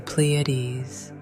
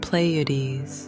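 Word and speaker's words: Pleiades: It's now Orion, Cassiopia, the pleades. You chuckle. You used to pronounce it played until someone gently corrected you.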